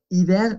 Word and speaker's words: hiver: Hiver es una excepción, ¿ok?